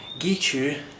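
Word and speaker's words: Guizhou: Gichu, which I'm told is the right pronunciation, it wasn't a disappointment.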